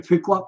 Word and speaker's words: Pequot: Pequot, I got it. But the Pequot nation had not agreed to the peace treaty. Squanto had negotiated, and they fought back. The Pequot War was on for the bloodiest Indian wars ever fought.